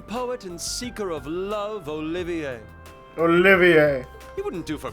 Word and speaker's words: Olivier: am the drifting poet and seeker of love olivier olivier he wouldn't do for passerby to mistake